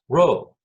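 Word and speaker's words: rabh: R-A-B-H, right? So that's ro. A-B-H is that sound, ro.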